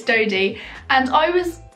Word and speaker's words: Dodie: her name right because I think I said dotty before and we're friends like no that's not how you say it's toady and I was like